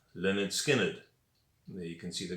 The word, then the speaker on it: Lynyrd Skynyrd: of all time and the album was called pronounced lynyrd skynyrd there you can see the guys outside the